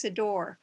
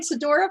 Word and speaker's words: Sidore: have to tell you my last name has two syllables not three it's sidor i'm sorry i should